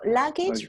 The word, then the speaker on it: luggage: ah i think cut cut the same vowel cut yeah so it's luggage and then we have su suitcase so luggage remember that mathias do